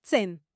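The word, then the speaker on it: zehn: nueve se pronuncia noin 10 se pronuncia zen para memorizar estos números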